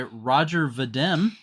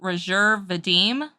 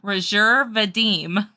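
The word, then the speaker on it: Roger Vadim: there for you the film was directed by Roger vdm it's actually pronounced rajer Vadim because he was French okay so Roger VM rajer Vadim you get on to me all the time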